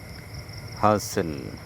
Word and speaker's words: hustle: কোনো শব্দের শেষে এস-টি-এল-ই থাকলে সেখানে টি অনুচ্চারিত থাকে এবং উচ্চারণটি সল এর মতো হয়। এক্সাম্পল: ক্যাসল দুর্গ, হুইসেল বাঁশি বা হুইসেল দেওয়া, থেসেল এক ধরনের কাঁটা গাছ, হাসেল তাড়াহুড়ো করা, নেসেল আশ্রয় নেয়া।